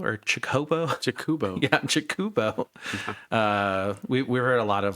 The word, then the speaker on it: Chocobo: Like, can I build a Chocobo deck or a Cahobo or Chocobo? Jakubo. Yeah, Chocobo. We've heard a lot of like really weird pronunciations, which I mean we've done a lot